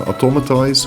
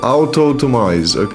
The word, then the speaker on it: Autotomize: Shell Sidearm, Heal Block, Chilly Reception and Automatize. Autotomize! What in the world? How do you even pronounce that? Autotomize.